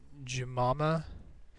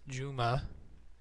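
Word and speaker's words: Jumu'ah: start out by saying when you were pronouncing the word as you pronounced it Jama it's Juma it's uh means Friday it's their holy day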